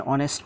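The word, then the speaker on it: honest: For example, he ইজ অ্যান অনেস্ট ম্যান। এখানে অনেস্টের প্রথম লেটারটা হচ্ছে গিয়ে এইচ মানে কনসোনেন্ট, তবে এখানে কনসোনেন্টের উচ্চারণ ভাওয়েলের মতো হওয়ার কারণে আমরা এর পরিবর্তে এন ব্যবহার করেছি।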